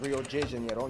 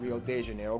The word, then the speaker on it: Rio de Janeiro: That's right, it's pronounced Rio de Janeiro, not Rio de Janeiro. Get it right, we're not in Mexico.